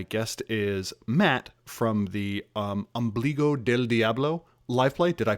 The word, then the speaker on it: Ombligo del Diablo: the shows my guest is matt from the ambligo del diablo life flight did i pronounce it correctly and is that your name